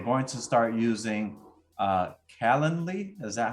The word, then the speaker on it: Calendly: game play we're going to start using uh calendly is that how it's pronounced Jason yeah Canon Lee uh say that like three times fast uh so calendly we're gonna start using that and once we